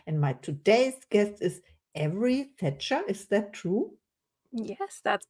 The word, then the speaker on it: Avery Thatcher: my today's guest is Avery Thatcher. Is that true? Yes, that's Or perfect. did I pronounce it right?